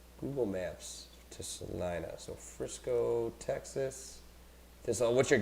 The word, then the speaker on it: Celina: down the road here, there's a Salina, but it's spelled Celina, but pronounced the same exact way.